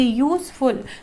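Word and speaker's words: useful: यहाँ पर भी जब हम बोलेंगे यूजफुल, तो यूजफुल में स्टार्टिंग लेटर आपका यू है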